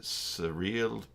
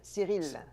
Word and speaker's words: Cyril: Is it surreal? He says, "Hello, J2Commerce, a wonderful initiative." Surreal? Is that French? Cyril. Cyril. Okay. Cyril. Yeah. Yeah. The Y is I in French.